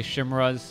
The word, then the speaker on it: chimera: dragons Chimera Roost uh chimeras I know some people say shimra I I say Chimera um I think that's what the Oxford dictionary website actually pronounces it chimeras anyways let's go ahead